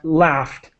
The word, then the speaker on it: laughed: is laughed so uh laughed just like l a f t simple uh English a lot of the time the spelling is really complicated but the pronunciation is simple laughed all right and so